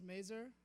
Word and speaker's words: Mazur: outside of hello everybody my name is mazur rhymes with laser i am the leader